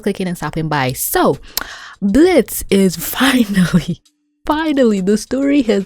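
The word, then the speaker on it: Blitzø: Cause since the beginning, since episode freaking 1, Blitzo, the O is silent, asshole! Blitz, whatever, has not had a win to save his life.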